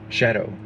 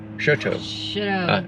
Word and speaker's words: Choteau: I found out that's how you pronounce it too. The guy Chris here. So he said it's Choteau. Choteau. Something like that. I think I heard him say Choteau.